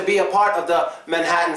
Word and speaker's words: Manhattan: it follows the rule the T becomes silent Manhattan Manhattan there are three exceptions